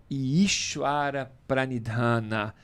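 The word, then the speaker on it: ईश्वरप्रणिधान: não tá bom bom isara pranidhana ou de uma pronúncia um pouquinho mais aprofundada isara pranidhana que é a décima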